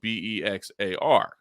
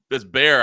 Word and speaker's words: Bexar: Bear County in Texas, you don't realize that it's spelled Bexar. And Oh, I was okay. like, excuse me, where my map says Bexar County, and they're like, no, you idiot, that's Bear.